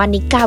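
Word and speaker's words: Nikka: ชื่อ ดัง ใน ฮอกไกโด ชื่อ แบรนด์ อ่าน ว่า นิก้า วิสกี้ วัน นี้ เรา มา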